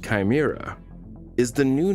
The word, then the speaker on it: CHIMRA: Collection and handling for in situ Martian rock analysis, CHIMRA, pronounced Chimera, is the new name